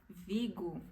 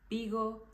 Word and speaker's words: Vigo: países que falam espanhol eles pronunciam a letra V como letra B existe sim algum país que pronuncia com v normal do do jeito que a gente fala no Brasil mas a maioria não pronuncia desse jeito jeito pronuncia como letra b então palavras que a gente falaria como Valência Vigo Vitória essas palavras em espanhol seri pronunciada com a letra B Valencia Bigo Victoria Victor então nunca pronuncie